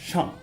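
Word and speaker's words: 上: This character, which means up, is pronounced shang.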